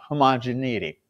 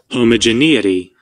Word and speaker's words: homogeneity: We're going to use chi-square test for homogeneity. You know what? I know I'm going to keep mispronouncing that.